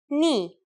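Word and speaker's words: νι: The first letter today is a consonant, ni. Yes, pronounced just like the knee on your leg.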